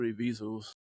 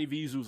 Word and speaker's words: Evisu: Those are Evisus. Oh, okay. Spell it. EVISU. Sounds like a Zuzu.